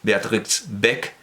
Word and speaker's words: Beatrix Beck: libro de Beatrix Beck, la X se pronuncia, Beatrix Beck, por voluntad de su